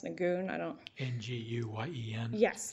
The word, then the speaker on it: Nguyen: told it was pronounced nagoon i don't know nguyen yes that case i'm going to say win that's all right um